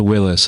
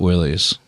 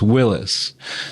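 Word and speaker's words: Willys: Willy's presumab presumably and technically it's pronounced Willis and not Willie's uh I learned that a few years ago but I keep on making the same mistake so it's Willis so uh yeah you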